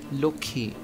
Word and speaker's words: Lakshmi: for example the word Lakshmi in Hindi. This word is pronounced as Lokhi in Bangla.